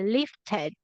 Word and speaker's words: lifted: So, Mary, you have to be careful because some of the past tenses of the verb will end in id.